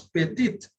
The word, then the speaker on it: petite: So whenever there is an E at the end, the previous consonant is pronounced. We have learned it in the chapter of pronunciation. So it becomes petite.